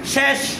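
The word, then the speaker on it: شش: এরপরে শেষ, এটা শস না, সবাই এটাকে শস পরে, এটা শস নয় কি শেষ, শেষ মানে শেষ না, ছয়, ঠিক আছে।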